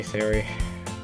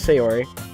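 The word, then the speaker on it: Sayori: me and if you even wanted to overstay Siri okay so apparently this person is say Ori okay gotcha across the street together make our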